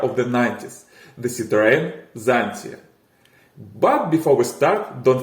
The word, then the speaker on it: Xantia: The name Xantia, with an ancient Greek pronunciation of the letter X, doesn't mean anything specific.